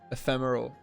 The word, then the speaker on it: ephemeral: Like if I was playing an ephemeral deck, ephemeral, that's how you pronounce that word, ephemeral.